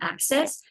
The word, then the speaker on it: ACSIS: So as you see on the screen, it's spelled ACSIS, and we call it Access.